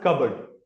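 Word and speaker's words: cupboard: यहां से are sound drop किया गया है। रीज़न इसका ये है कि वोवेल साउंड्स के बाद जो आर आता है वो ड्रॉप किया जाता है। एंड it's pronounce कबर्ड।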